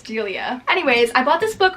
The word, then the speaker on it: Delia: I always say her name wrong. I'm pretty sure it's Delia.